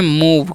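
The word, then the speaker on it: move: पैर से मारना okay M ओ वी ई तो इसे हम पढ़ते हैं मूव क्या पढ़ते हैं जी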